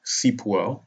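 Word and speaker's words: Sipuel: as other citizens so landmark case seep well so cboe is spelled s-i-p-u-e-l oklahoma you can google it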